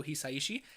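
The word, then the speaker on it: Hisaishi: hello I am Joe heishi he always pronounces it heishi so uh yeah I'm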